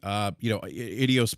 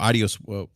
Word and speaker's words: Adios: One thing I noticed about this game, Idios Montreal or Adios. I always say it wrong. Adios. I say E, but it's Adios Montreal.